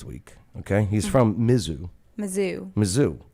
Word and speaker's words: Mizzou: Mizzou.